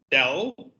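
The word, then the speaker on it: ∂: as the sum of Dell just to say how you pronounce this this is Dell d l Dell plus Dell bar and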